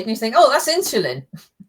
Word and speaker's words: Insulin: Yes is a Z. No, insulin. Yeah, insulin. Yeah, it's not a Z.